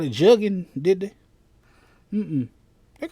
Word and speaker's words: jugging: They say it's jugging rhymes with muggings in the spread.